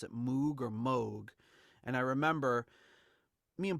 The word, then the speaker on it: Moog: guess they I found an interview with Bob Moog who founded the Moog synthesizer company and everything